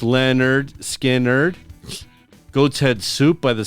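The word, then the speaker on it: Lynyrd Skynyrd: oh my God uh the first skinnard album pronounced Leonard skard Goats Head Soup by the Stones uh Goodbye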